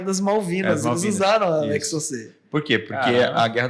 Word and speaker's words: Exocet: Exocet. Só que chama, só que o T é mudo porque é francês.